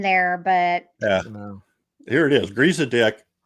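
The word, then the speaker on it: Griesedieck: Griezadick. G R I E S E D I E C K.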